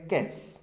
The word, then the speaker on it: cache: नहीं देखा इसका प्रोनाउंसिएशन, तो हो सकता है कि आप इस वर्ड का कोई और ही उच्चारण करें जो कि सही नहीं होगा। कैस, क्या बोलेंगे इसको? कैस बोलेंगे।